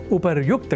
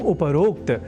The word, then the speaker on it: उपर्युक्त: अर्थात उपरोक्त के स्थान पर उपर्युक्त कहा और लिखा जाना शुद्ध है। यह हमें अवश्य स्मरण रखना चाहिए। तो उपर्युक्त इस शब्द से बने वाक्यों के अभ्यास से हम उपरोक्त इस अशुद्ध उच्चारण और